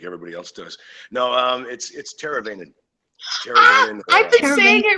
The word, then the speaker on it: Teravainen: all week that we not sure how to pronounce your last name just butcher like everybody else does no it'sit's teravainen i think make it right I've been saying